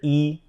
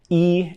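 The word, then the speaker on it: 一: is the number one when e just represents the Cardinal number number one it just is pronounced with the first tone how it's normally supposed to be pronounced but when it's used to count things or and pretty much any other usage it has tone Sandy so when e is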